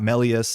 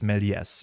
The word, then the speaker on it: Méliès: That being said, I'm pretty sure this S is pronounced because there's the E accent grave in front of it. So this will be pronounced Méliès, which is cool. That's not that hard to do. But yeah, it's not Melius, it's Méliès.